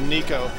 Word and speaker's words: Nicko: avoiding me versus Nico spelled to Nick oh but pronounced Nico he's a really good